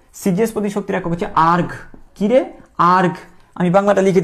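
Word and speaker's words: erg: সিজিএস পদ্ধতিতে শক্তির একক হচ্ছে শক্তির একক হচ্ছে সিজিএস পদ্ধতি শক্তির একক হচ্ছে আর্গ। কিরে আর্কগ। আমি বাংলাটা লিখে দিচ্ছি। এটার উচ্চারণ কি?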